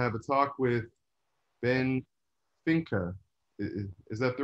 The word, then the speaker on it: Finke: And we're going to have a talk with Ben FINKE. Is that the right way to pronounce it?